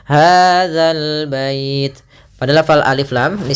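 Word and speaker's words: هذا البيت: harakat kemudian hadal bait hati-hati dalam pelafalan dza jangan sampai dibaca dengan hadzal bait sering terjadi kita mendengarkan huruf dalal diganti dengan Zai Ah ini kurang tepat dan bahkan bisa merubah maknanya hadal bait pada lafal alif lam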